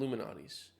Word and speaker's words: Lou Malnati's: I've heard it I've heard it called Luminati's by Chicagoans. It's spelled like Lou Malnati's. I don't even know. Man, I'm I guess I'm going to go Chicagoan and just say Luminati's. Ooh, that deep dish is crazy.